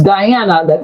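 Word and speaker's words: Dijana: Yeah, it's it's Diana. That's how you pronounce it. Uh I know it's like the genre, but uh it's the Croatian way of of saying Diana.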